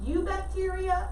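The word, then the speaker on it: Eubacteria: the unicellular organisms kingdom you bacteria the e is silent so i know it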